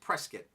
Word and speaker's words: Prescott: Prescott yes it looks like Prescott but it's pronounced Prescott now I have a Bachelor sword a true